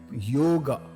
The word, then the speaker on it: yoga: called named as yoga pronunciation is like yoga yoga and not a long a sound it is not yoga it is Yoga